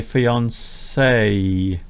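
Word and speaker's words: fiancée: describe them as a fiancé with one E. I didn't realize there was the female and male equivalent. They're pronounced exactly the same. One has an extra E.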